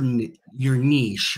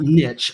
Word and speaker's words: niche: recommend to define your niche. I want to make sure I pronounce that right. It's not niche, I've been told. It's niche, which, I don't know, Kurt, does that sound French to you?